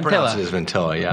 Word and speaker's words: Ventilla: I got it right right proun it as ventilla yeah ventilla that's how Italian that's how they tght it